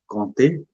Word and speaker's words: compter: We don't pronounce p here. Compter is compter les Compter, nombres.